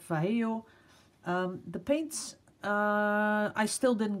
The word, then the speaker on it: Vallejo: And a lot of people have helped me out because I've even received a link to a video where they pronounce Vallejo. So I'll just keep it at Vallejo.